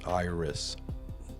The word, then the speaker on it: IRAS: And also the IRAS Iris, it's spelled I R A S.